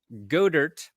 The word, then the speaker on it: Goedert: 1, Dallas Goedert pronounces his last name incorrectly.